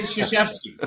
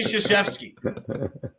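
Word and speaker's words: Krzyzewski: Army and was like I'm coach say shashki just say shashki don't worry about what it looks like just say shashki and you'll be fine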